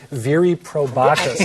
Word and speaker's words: viri probati: We are talking about viri probatus. Is that the right? Am I pronouncing it a long time? You are right. Okay. Yeah, boy, what are viri probati?